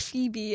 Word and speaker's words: Phoebe: you know it's pronounced Phoebe.